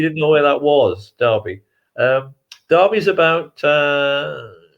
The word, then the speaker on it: Derby: you'd heard of and it's pronounced darby not at derby i know you have